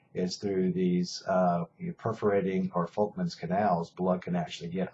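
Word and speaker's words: Volkmann: are called perforating or folkmans i know it says there's a v there but it's pronounced with f folkman's canals these canals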